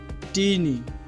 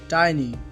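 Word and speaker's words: tiny: টিনি, এটি ভুল উচ্চারণ। এর সঠিক উচ্চারণটি হবে টাইনি।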